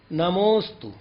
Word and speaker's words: नमोस्तु: प्रायः करके लोग इसको आकार पढ़ते हैं, जबकि ये उच्चारण शुद्ध नहीं माना जाएगा। तो इसकी विधि क्या है, तो पहले अक्षर पर जोर दे दिया जाए तो मालूम होता है कि यहां कोई अक्षर था। उदाहरण के लिए नमो के बाद अवग्रह चिन्ह है और उसके बाद स्तु है। हम उच्चारण करेंगे नमोस्तु।